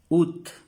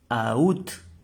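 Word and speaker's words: août: ahora el mes agosto Cómo se pronuncia ut ut no decimos aut no ut como escribiéramos así pronunciamos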